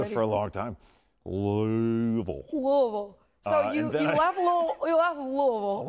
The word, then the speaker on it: Louisville: You gotta say it right. You can't say Louis or Louis. Louisville. I mean, if you really wanted to, you could, but they say Louisville. Louisville. It's almost like Louisville.